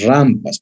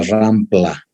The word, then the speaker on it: rampa: específicas por ejemplo las rampas por favor mis estudiantes se pronuncia rampa no existe la palabra rampla aunque hay un equipo